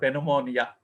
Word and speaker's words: pneumonia: Okay, I think first time you are listening this word pneumonia. So here P is silent.